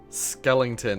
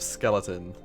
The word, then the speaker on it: skeleton: But he always used to say skellington instead of skeleton, and Skellington.